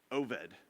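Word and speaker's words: Obed: ruth and boaz have a kid named oved with a b pronounced with a v i don't know why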